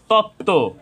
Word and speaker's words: তত্ত্ব: যুক্ত ব্যঞ্জন বর্ণের সাথে বফলা সংযুক্ত হয়েছে যুক্ত ব্যঞ্জন বর্ণের সাথে বফলা সংযুক্ত হওয়ার কারণে এখানেও ব ফলার উচ্চারণ হয়নি তত্ত্ব তো এখানে আমরা আরো